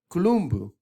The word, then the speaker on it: Columbu: an italian show where in italian they pronounce his name gloomboo kulumbu because it's c-l-u-m-b-u two two u's in there so you know